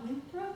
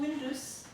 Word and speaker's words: Windus: frequently who was was that John windr is that who you said no it's John windus John windus uh how do you spell it w i n d u s okay and what that